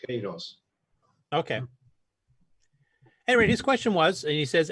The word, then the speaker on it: Queiroz: When it's Q-U, we don't pronounce the U. So it's Queiroz.